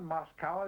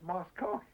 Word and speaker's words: Moscow: from Moscow I said don't you know how to pronounce that word that's not Moscow it's Moscow I began to kind